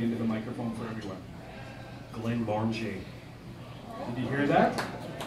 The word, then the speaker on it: Glenmorangie: Glenmorangie. Did you hear that? Glenmorangie.